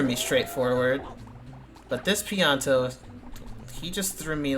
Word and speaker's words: Pianta: That's not how I thought you pronounced that word. I think when I was younger I called them panitas or something weird.